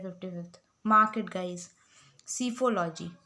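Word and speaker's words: psephology: सीफोलॉजी. P silent होता है.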